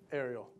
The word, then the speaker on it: Aireal: So I have to ask one more time for the record, how do you pronounce it correctly? Aireal.